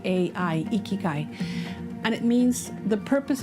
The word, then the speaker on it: ikigai: concept of ikigai it's a japanese word uh it's spelled i k i g a i ikikai and it means the purpose in your life